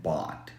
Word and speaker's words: bought: cool thing is that you can do the same thing here eliminate the ugh sound and you get bought which is exactly how it sounds remember that this is